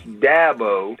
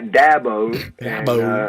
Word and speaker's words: Dabo: about right for you it's Dabo as in apple a Dabo I get all kind